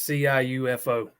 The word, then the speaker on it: Ciufo: From Georgetown, Andrew Ciufo. I don't even know how to say his name. It's Ciufo.